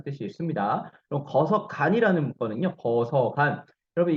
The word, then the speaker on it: 거서간: 거서간 여러분 이 간에 한번 주목해 보세요. 간은요. 우리 친기즈 칸 할 때 우리 칸이죠. 그거랑 같은 발음이라고 생각하면 되고요.